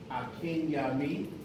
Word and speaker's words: Akinyemi: My name is Akindale Akinyami. It rhymes with a friend of me, Akinyami.